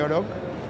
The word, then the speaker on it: Oroch: La Oroch, que van a decir Oroch, como sí, digo yo, porque sí, se escribe así, pero es sí, realmente Oroch.